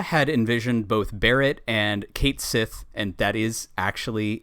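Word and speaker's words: Cait Sith: development um nura had envisioned both Barrett and Kate Sith and that is actually how there it's pronounced there's a lot of chatter online that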